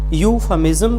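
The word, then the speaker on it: euphemism: इसके बाद हमारा लास्ट वर्ड है आज का, जिसको हम गलती से बोलते हैं यूफेमिज्म। तो इसमें इज्म नहीं बोलना, हमें बोलना है इज़म। और ई और यू मिल करके केवल यू साउंड आएगा तो प्रोनाउंसिएशन बनेगी यूफामिज्म, जम नॉट जम, जम, यूफामिज्म।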